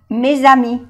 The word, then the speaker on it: mes amis: Que no se pronuncia la S del plural y aquí se pronuncia porque como le sigue una vocal, se hace la unión, mes amis.